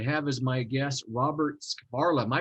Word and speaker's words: Skvarla: privileged today to have as my guest Robert Skvarla. Am I pronouncing that correctly, Robert? You are, yes, it's Okay. Skvarla.